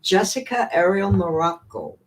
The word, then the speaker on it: Jessica Ariel Marrocco: So let me bring on Jessica Ariel Marrocco.